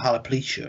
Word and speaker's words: alopecia: Maybe it's more like alopecia or something.